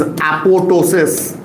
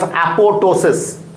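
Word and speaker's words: apoptosis: The next role and most important role of P53 gene is apotosis. This P is silent. This B is silent and this is called as apotosis.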